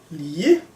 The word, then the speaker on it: lige: And then it's the proper G sound. Lige, ligge. So the soft G becomes a J when there's only 1 in between 2 vowels.